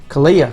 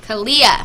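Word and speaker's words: Kealia: How do you pronounce her name? Kalia. Kalia.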